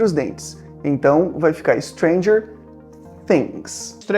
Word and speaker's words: Stranger Things: e eu já quero começar falando sobre a pronúncia do nome da série que é Stranger Things.